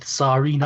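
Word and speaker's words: Tsareena: That's the Russian, because it's like a Tsarina, which is like Russian. Because Serena is a bit too much like Serena. Tsarina.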